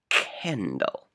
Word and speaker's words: candle: So the next letter is A, it is not I, E, or Y, so we sound the C like K, candle.